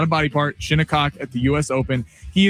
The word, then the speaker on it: Shinnecock: Shinnecock. Oh, what was that? It's spelled, you know what?